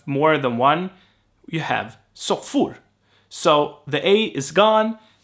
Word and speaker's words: soffor: So I would say soffer, for instance, not soffor. Or I would use both interchangeably.